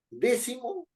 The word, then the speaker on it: décimo: rige por su regla décimo es una palabra esdrújula tiene que llevar acento en d séptimo es una palabra